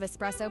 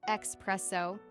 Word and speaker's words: espresso: an extra shot of espresso, please?" Practice saying it out loud a few times. Another important aspect is pronunciation. Some coffee terms can be tricky. For instance, espresso is pronounced es-presso, not expresso.